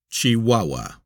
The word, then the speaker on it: Chihuahua: Pronounced Chihuahua.